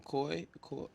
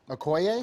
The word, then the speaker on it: Okoye: Okoye? Okoye, Okoye?